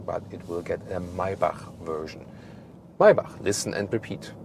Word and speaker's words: Maybach: it will get a Maybach version. Maybach, listen and repeat. Maybach. That's the German lesson for today, because the CH we don't pronounce like k, but k. So Maybach.